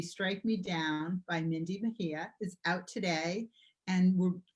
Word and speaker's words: Mejia: It's Mejia. It's a Spanish name, so the J is like an H. Which I would have said. So Yes. I've gone with my gut. Mindy Mejia received her MFA from Hamline University.